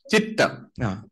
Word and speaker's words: chitta: Like C-H-I-T. Versus C-H-I-T-T. Yes. Chitta. Chitta.